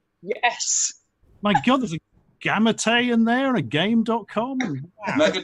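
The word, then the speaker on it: Gamate: it in the uk turns out it's pronounced gamete and i only found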